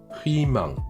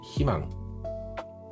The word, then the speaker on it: 희망: Et c'est pas 희망, c'est 희망, qui veut dire l'espoir.